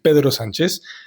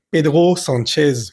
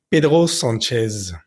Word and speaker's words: Pedro Sánchez: Pedro, Pedro, y S-A-N, la A-N es una vocal nasal, normalmente diríamos son, y la Z siempre va a vibrar. Entonces algo así sonaría como Pedro Sánchez, pero perfectamente puedes decirlo Pedro Sánchez.